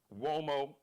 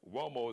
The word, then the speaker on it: Uomo: He's on Instagram, and just type in Mario Uomo. Uomo is an Italian name, so Mario like umbrella, O like Oprah, M like Mary, O like Oprah. Mario Uomo, Uomo.